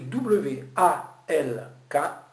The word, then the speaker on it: walk: Ça s'écrit W-A-L-K. C'est entendu. Mais ça se dit walk. Le A est un O et le L n'existe pas.